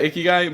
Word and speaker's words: Ikigai: I always say Ikigai, but I think I say it wrong. Ikigai. Yeah, Ikigai.